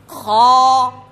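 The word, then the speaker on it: خ: বন্ধুরা, এই হরফটিও মোটা উচ্চারণ হবে, উচ্চারণগত এই হরফটি মোটা। এই উচ্চারণ হচ্ছে হলকের শেষ ভাগ থেকে, শেষ অংশ থেকে, গইন এবং খ।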